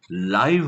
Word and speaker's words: live: शिवाय मॅच बघत असताना टीव्ही वरती आपल्याला साईडला LIVE लिव्ह दिसतं, तर त्याचा अर्थ राहणे होत नसून थेट प्रक्षेपण असा होतो, आणि उच्चार सुद्धा लिव्ह नसून लाईव्ह होतो, लाईव्ह.